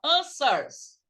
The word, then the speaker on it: answers: Essa palavra aqui, o W é mudo. Você não pronuncia W. Você não fala answers, você fala answers.